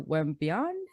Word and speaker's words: Wembanyama: I don't want to say his last name wrong. Y'all know me, my accent. Victor Wembanyama? How do you say it? Wimbiana? I think it's Wembiana.